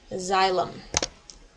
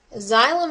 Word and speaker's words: xylem: plants is called xylm I know it starts with an X but it's pronounced with a z xylem xylem is responsible for carrying